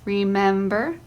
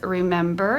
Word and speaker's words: remember: word, as colony, botany, remember, important, recollect, represent. In the words colony and botany, the first syllable is accented. In the words remember and important, the second syllable is accented.